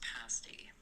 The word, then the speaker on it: pasty: and pasty one more it's pronounced pasty pasty Pasty P Cornish pasty Cornish pasty pasty thank you thank you